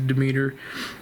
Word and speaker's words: Demeter: I didn't know if I was pronouncing that right or not, but it is the Demeter.